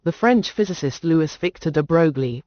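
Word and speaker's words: de Broglie: In 1924, the French physicist Lewis Victor de Brgley pronounced as de Bruy 1892 to 1987 put forward the bold hypothesis that moving particles of matter should display wavelike properties under suitable conditions.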